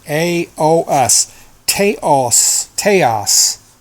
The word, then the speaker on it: Taos: H hum I had found um but it's it's spelled t a oos Taos Taos teos pine teos pine pure resin and that was